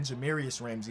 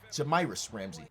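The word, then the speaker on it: Jahmi'us Ramsey: woodard and jamiris ramsay i think i kept saying jamarius ramsay in the last episode and i want to disrespect homie i want to pronounce his name right jamiris ramsay oh rashaan holmes fouled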